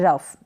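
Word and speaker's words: rough: Next है रफ, इसको आपने पढ़ा रफ।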